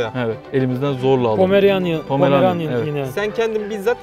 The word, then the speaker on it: Pomeranian: Şimdi elimizde tuttuğumuz köpeğin cinsi Pomeranian. Pomeranian Bow dedikleri. Evet, Bow dedikleri köpek. Ama doğru telaffuzu Pomeranian.